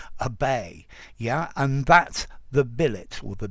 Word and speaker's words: billet: But this verb in English, it's pronounced to billet with none of the French left. Although in billet doux, a love letter, I think I would still retain the French pronunciation.